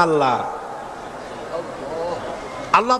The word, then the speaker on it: আল্লাহ: আল্লাহ এই উচ্চারণটা আমাদের অনেকের হয় না, কেউ বলে না আল্লাহ। আল্লাহ পাকের উচ্চারণটা হচ্ছে, আল্লাহ পাকের নামের উচ্চারণ হচ্ছে আল্লাহ। মুখটা একটু গোল হয়ে যাবে, বলেন আল্লাহ আল্লাহ সুবহানাল্লাহ।